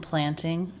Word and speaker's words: planting: Stress is never on the ing ending. It's always on another syllable. And since these are just two syllable words, stress is on the first syllable. Weeding and planting. Weeding and planting. Weeding and planting. Weeding and planting. He gives a true T here as part of the NT cluster.